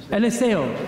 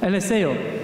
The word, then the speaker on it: Eliseo: Eliseo. ¿Eliseo? Eliseo.